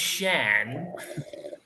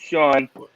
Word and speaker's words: Sean: Is it Shan? Is he pronounced Shan? It's Sean. Sean from okay.